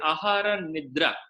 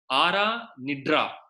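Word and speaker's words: आहार निद्रा: I said, Ahara Nidra. He said, Ara Nidra. The da and ra also is not able to pronounce correctly.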